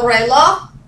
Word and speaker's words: reloj: Kind of like the J is not even there, just reloj. All right. Like J-Lo, but reloj.